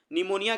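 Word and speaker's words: pneumonia: पर ऐसे याद रखिएगा निमोनिया का स्पेलिंग देख लीजिए पी से स्टार्ट होता है पी एन ई यू एम ओ एन आई निमोनिया कई बार एग्जाम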